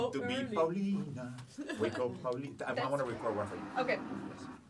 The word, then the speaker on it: Paulina: No, I want to say it correctly because my name is Paulina, not Paulina or Paulina.